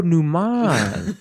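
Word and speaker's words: Neuman: Oh, numan. Oh, numan. Oh, that's good. Rhymes with Schuman.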